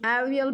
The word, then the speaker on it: avial: मतलब उसका जो प्रोनाउंस है उस तरह होता है, UHUVIUL। Okay, so avial become famous all over